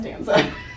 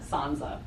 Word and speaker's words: Sansa: What did I say? Stanza. Stanza. I thought I said Sansa. Sansa. See, I'm telling you, I make up all kinds of names for them. Stanza. Sansa. What? Sansa. It's actually Sansa.